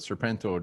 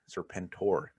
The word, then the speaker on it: Serpentor: I mean, there's some key guys there, but Serpento does not sound familiar. Serpentor. You gotta say it right.